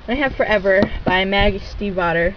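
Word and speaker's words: Stiefvater: have Forever by Magie Steve OT yes that is how you say it it is Steve OT I looked it up okay I'm good it's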